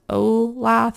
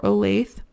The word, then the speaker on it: Olathe: you come across it it is I think pronounced olath or Olathe o-l-a-t-h-e made in USA